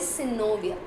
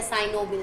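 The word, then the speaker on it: synovial: Fibrous, एक cartilaginous and third is सिनोवियल, right, या साइनोवियल, जो भी आप प्रोनाउंस कर सकते हैं।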